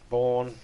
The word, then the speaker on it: Bourne: So is Jason Bourne. No. When you're referring to a person's name, it's Bourne.